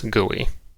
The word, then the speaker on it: GUI: Incidentally, I like to pronounce it also as GUI.